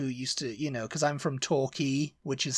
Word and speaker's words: Torquay: Yeah, I've been down to Torquay, and I'm like, it's Torquay. And I said, no, it's Torquay. It's spelt like that. Yeah. And I'm like, key is how it's pronounced.